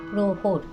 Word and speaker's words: প্রহর: কিন্তু উচ্চারণ করতে হবে প্রহর র থাকলে আগে হ টা ওকার হয়ে যাবে প্রসঙ্গন্তরে বলি লুকোচুরি সিনেমাটাতে